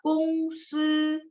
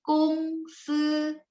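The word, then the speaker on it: 公司: Yang kedua, kungsi karena ada 1 ya. Kung, G baca K. SI bacanya se, 对吗？jadi 公司 nada satu-satu ya.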